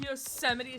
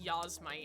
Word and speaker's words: Yosemite: I used to pronounce it Yosmite instead of Yosemite.